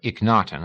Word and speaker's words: Akhenaten: He was an ancient Egyptian, one of a party led by the pharaoh Akhenaten, or Ikhnaten, as some pronounced it.